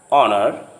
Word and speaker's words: honor: In some words, the H sound at the beginning often is not pronounced. For example, honor, hour, honest.